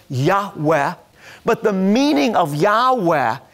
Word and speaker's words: Yahweh: And we know that God revealed to Moses that His name was Yud-Heh-Vav-Heh, often pronounced Yahweh.